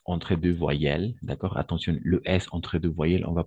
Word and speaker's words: les: Le S est muet, d'accord?